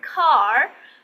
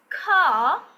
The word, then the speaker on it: car: Okay, they are not going to pronounce the R sound at the end.